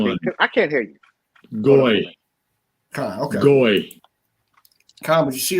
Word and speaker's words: goy: It's a goy. Right? And I think the pronunciation on that is Goyim?